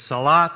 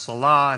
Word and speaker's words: salat: second pillar then is salat sometimes it's pronounced salah it has an h instead of a t but it has to